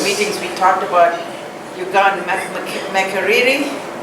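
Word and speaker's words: Makerere: we talked about Uganda Makariri. That's the right way to pronounce it, right? Because another student taught me to say Macari, and I don't know what's good.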